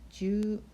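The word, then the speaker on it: じゅう: 자 마지막으로 숫자 시 입은 길게 가야 겠죠 쥬 라고 읽으면 됩니다 사실 선생님이 수업시간에 노래를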